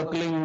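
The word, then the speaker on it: क्लीं: होता है एक शब्द क्लीन शब्द क्या आधा ला में मिला हुआ, बड़ी एक मात्रा और बिंदी, उसका उच्चारण होगा क्लीन गा की ध्वनि निकलेगी पीछे।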